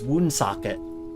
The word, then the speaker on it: Woonsocket: There's Woonsocket, but that's pronounced the way it's spelled.